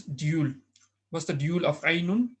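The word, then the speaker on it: عَيْنٌ: First singular is aynun. Right? Aynun. Plural is uyunun. But here, obviously, eyes come in pairs. So we will say my mother's eyes, we're going to use dual. What's the dual of aynun?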